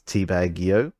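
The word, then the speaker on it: Teabag90: So in Teabag's case, Teabag 90, it's actually, he actually would prefer to be pronounced as Teabag EO.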